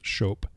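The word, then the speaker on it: scop: that of the show when SC appears together in anglo-saxon it's pronounced the same way that Sh is pronounced in modern English shope the show was the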